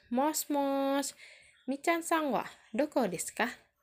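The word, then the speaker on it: もしもし: Yang pertama ada tulisannya moshi-moshi, tapi dibacanya mos-mos.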